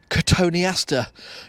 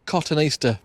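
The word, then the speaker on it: Cotoneaster: well some call it katoni Aster cuz that's what it's called some call it cotton Easter but it's only got one te at the first part of it it's got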